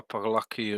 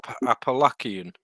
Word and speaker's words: Appalachian: 2000 people attempt to walk the opalak and Trail every year yeah Andy say it right Appalachian yeah typ in the